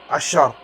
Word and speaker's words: عشتار: طبعا بالانجليزيه بتنكتب عشتار، ولكن تنطق عشار.